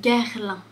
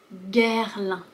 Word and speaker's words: Guerlain: Tu vois, ici, on voit le G suivi du U. Et par conséquent, ça fait le son G. Guerlain. Guerlain. La difficulté, ça peut être le R suivi du L.